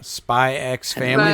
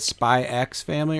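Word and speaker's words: Spy × Family: Spy X Family, or is it just Spy Family? I think it's just Spy Family. I think so too. Because that apparently Hunter X Hunter is just Hunter Hunter. They don't pronounce the X.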